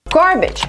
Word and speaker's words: garbage: pronouncing this word wrong there are three pronunciations for this word garbage garbage the second syllable is not stressed garbage for this syllable